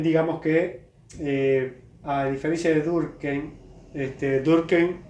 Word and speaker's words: Durkheim: Y creo que en Francia también, porque bueno, la H no suena en francés, pero como es judío sería Durkheim, ¿no? Bueno, es un detalle que dejo. Acá le decimos Durkheim desde siempre, no es